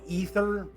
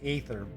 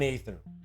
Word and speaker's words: aether: Normally that's pronounced ether, like floating through the aether, as opposed to, hey, I need to knock you out, so I'm going to make you breathe in this ether. So, hey, that's just me. I mean, I might be wrong, but I'm telling you, I would pronounce it aether.